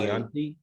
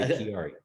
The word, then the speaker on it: Chiari: This is Chris Chiari. How are you, sir? I'm good, sir. And Chiari, if you could say Chiari. Chianti, you can say Chiari.